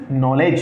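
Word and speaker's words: knowledge: वो साउंडलेस रहती है तो याद रखिएगा this is नॉलेज this is नॉलेज ये के साइलेंट है यहां पे यहां से ही इसका साउंड जनरेट होगा तो अगर आप देख पा रहे हैं तो इसको क्या बोलते हैं नॉलेज क्या बोलते हैं नॉलेज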